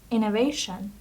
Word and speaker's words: innovation: The next word would be innovation. Innovation. Okay. Just look at the pronunciation. Innovation. So the stress is on the second syllable.